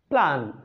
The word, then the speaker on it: plan: যেমন PLAN প্ল্যান, এখানে একটি ভাওয়েল আছে মাত্র, এটা শর্ট সাউন্ড হলো এ, প্ল্যান, প্ল্যান, MAD ম্যাড, ম্যাড।